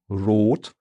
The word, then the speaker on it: Rot: But rot, that sounds to me is the word for red in German, but it sounds to me like the O sound in road in English.